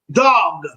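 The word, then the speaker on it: דג: Dog. Dog. It almost sounds like dog. Dog. Dog. Dog. Dog. Dog. Dog, which is spelled dag.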